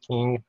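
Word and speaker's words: Qing: you see in 1912 the uh republic of china overthrew the key you know is spelled uh q-i-n-g-i so it's pronounced king dynasty the very last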